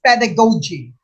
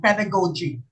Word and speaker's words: pedagogy: pedagogy the curriculum development it's pronounced pedagogy some teachers pronounce this pedagogy no it's pedagogy the curriculum development see